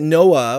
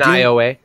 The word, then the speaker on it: Nioh: I see that Noah, or however you pronounce it, came out on PC last week. You got NIOA or NIOH. Yeah, Noah, or whatever it is. Nio. Thank you.